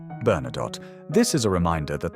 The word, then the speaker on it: Bernadotte: If you pronounce it correctly in French, the last letter is silent. Bernadotte.